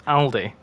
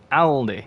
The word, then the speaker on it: Aldi: How do you pronounce Aldi? Aldi, not Aldi. It's not Aldi, it's Aldi. The first 390s face was updated first from the first major patch.